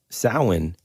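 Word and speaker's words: Samhain: different phonetic sound because sin is the pronunciation but it's spelled Sam Hayne yeah okay right so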